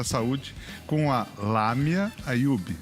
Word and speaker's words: Ayoub: saúde, com a Lamia Ayub. Ayub, não tem acento, mas se pronuncia com A.